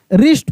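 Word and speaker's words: wrist: एक ट्रिक है कि डब्ल्यू को छोड़ दो। आर से पढ़ो। जैसे रॉन्ग पढ़ो, रिस्ट पढ़ो, रैप पढ़ो। लेकिन लिखते समय डब्ल्यू जरूर लिखना है। क्योंकि ये वर्ड डब्ल्यू से ही लिखाता है।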